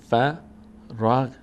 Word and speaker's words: فرغت: کلمه فراغ ت هست این غین چون این ساکن داره بالا سرش ساکن هست به کمک ما قبلش باید تلفظ بشه چون حرکت نداره خودش به این شکل مثلاً فرغت فرغته فرغته ببینین فرغته